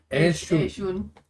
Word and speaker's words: Ershun: Ershun. E-R-S-H-U-N. Oh, I just wrote A-I-R. Yeah, that's how it's pronounced.